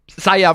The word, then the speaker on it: Saia: so it's so weird why can't these AI just pronounce sa it's not that hard Saia for the record uh is the the character in the thumbnail for one and for two it's Indonesian word for me for I I me say so